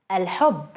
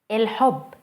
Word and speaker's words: الحب: الحب, الحب, الحب. Notice the difference between el and il.